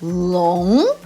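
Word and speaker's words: 龙: Chinese last names but it's not long long that big o sound again but with a question mark long got to be a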